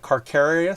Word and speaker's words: Carcharius: He's got a shark as a thing, so it's like Carcharius. So it's like Carcharodon Megalodon.